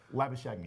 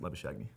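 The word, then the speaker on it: Labuschagne: - lab ashamed to make their tester boos lavish agony is pronounced liver showed me I'm pretty sure Marcus lavish agony in head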